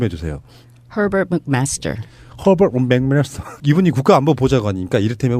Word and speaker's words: Herbert McMaster: 미국 정가에 예를 들면 지금 허버트 맥메스터 이 발음 좀 해주세요. Herbert McMaster.